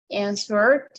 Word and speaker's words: answered: Answer, answered, answered, right? I'm not saying answered with T, right?